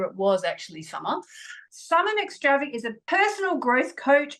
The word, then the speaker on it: McStravick: Welcome to the show, Summer McStravick.